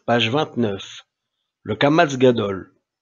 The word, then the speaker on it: Kamatz Gadol: Le Kamatz Gadol. Il s'agit d'un Kamatz Gadol prononcé A, si, premier cas, le Sheva qui le suit se prononce, exemple, Yareda, Ayeta.